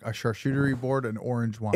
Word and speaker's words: charcuterie: He's like, a charcuterie board and orange wine.